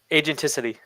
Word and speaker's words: agenticity: Agenticity. Agenticity. Did I say it right? I might not even be saying it right, but it's pretty No, you're saying it right.